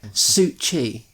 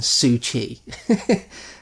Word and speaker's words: Cixi: it's spelled Cixi. But I believe it's pronounced something like Su Chi. Okay. It's pronounced Su Chi.